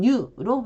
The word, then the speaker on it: 入: 입으로 발음을 할 때는 뉴로 발음을 하시면 되고요.